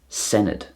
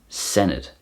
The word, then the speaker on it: Senedd: And the Welsh word for a parliament is Senedd. Senedd.